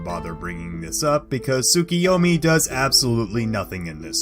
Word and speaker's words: Tsukiyomi: me to also clear up that it is pronounced tsukiyomi not sukuyumi as tsuki in japanese translates to the moon